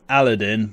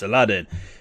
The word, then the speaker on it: Aladdin: really need a catchphrase you are watching Aladdin or Aladeen or however you want to pronounce his name lately I've been calling him Aladeen but we all know it's Aladdin this as I said